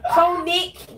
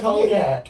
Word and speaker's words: Connick: She said cognac. No, it's not cognac. It's Connick.